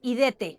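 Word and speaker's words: ἴδετε: En griego es la palabra idete.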